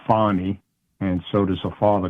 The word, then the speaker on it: Fani: Fanny Willis um uh she pronounces it Fon and so does her